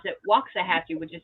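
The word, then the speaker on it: Waxahachie: pronounces the other one waxah hatchee and I pronounce it waxah hatchee which is how it's supposed to be well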